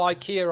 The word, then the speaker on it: IKEA: it's like you've gotta you can't call Ikea Ikea because it's ickier isn't it now it's